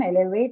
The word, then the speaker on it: elevate: But to your information, both of them, elevate and execute, both of them are stressed on the first syllable, okay?